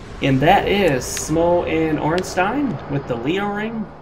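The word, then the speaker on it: Ornstein: that is SM and orstein with the Leo ring the reason I pronounce it Stein guys as every other case of that s i n is pronounced Stein I believe it's German and origin all right guys we're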